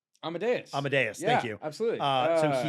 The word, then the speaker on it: Amadeus: Uh, Miles Foreman, I would say he's most known for this movie, but uh, my pronounces wrong. Amadius. Amadeas. Amadeus.